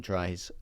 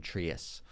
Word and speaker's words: Tries: And I'm like, and Stephen Tries. I was like, also the announcer for the club pronounced his name Stephen Trias. Thought he was like Greek or something. Yeah. Stephen Trias.